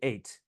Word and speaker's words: eight: preserved in writing but we no longer pronounce it we say eight likewise with Latin Otto